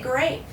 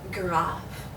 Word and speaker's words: grave: aent gra once again in English that's an A so we would say grave but in French this is an ah ah so you pronounce this graph you will find these